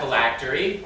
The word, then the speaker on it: phylactery: Miss Park, your word is phylactery. Phylactery. Am I pronouncing that correctly?